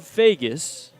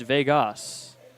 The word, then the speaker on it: Vegas: Now it's spelled Vegas, like loss, but it's pronounced Vegas.